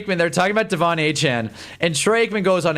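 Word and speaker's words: Achane: came in the league, everyone thought it was Achain and then he came out and told everyone that it was actually pronounced Achan."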